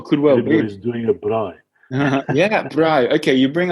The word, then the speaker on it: braai: right Bri yeah Bri in the French spell it B uh b r a with I with on instead of two A's and a i b r a AI so it's Bri and that basically means